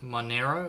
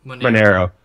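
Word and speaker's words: Monero: i pronouncing it correct is it mine arrow is that how you pronounce it my not yeah monaro okay yeah and that's been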